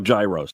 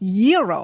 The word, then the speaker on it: gyro: in line at Papa Gyros I order the gyro Supreme suddenly the lady behind me chimes in it's pronounced Euro then the fow behind her says it's a gyro I turn my back